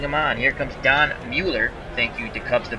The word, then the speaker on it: Mueller: Here comes Don Mueller. Thank you to Cubs the Bears for giving me the proper pronunciation. Spahn looking at turn 2. Crandall sets the target. He deals to Mueller.